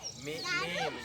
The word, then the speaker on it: name: में आता है ना, तो क्या पढ़ा जाता है, ई को साइलेंट हो जाता है, एम के बाद ए को क्या पढ़ा जाता है, ए पढ़ा जाता है, देर तक ए बोला जाता है नेम।